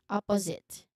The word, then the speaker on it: opposite: Opposite opposite. So the stress again is on the first syllable.